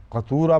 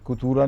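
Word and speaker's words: قتورا: کو کتورا کہتے ہیں۔ تو اب بھی تلفظ میں احتیاط کرنی چاہیے، قطورا پڑھنا چاہیے، کتورا نہیں پڑھنا چاہیے۔ قُلْ لَوْ أَنْتُمْ تَمْلِكُونَ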